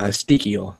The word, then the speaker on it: Sztykiel: to say his name Adam speak eel that's how you'd say it he's gonna be writing